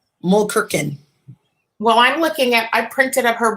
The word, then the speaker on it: Mulkerin: So did I pronounce it right, Mulkerin? You did.